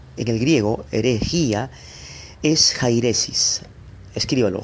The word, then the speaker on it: jairesis: la palabra griega en el griego herejía es jairesis Escríbalo J a y latina r e s